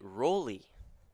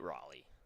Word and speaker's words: Roley: booth by Connor Taylor it is Tate Rowley not Tate Raleigh I've been saying it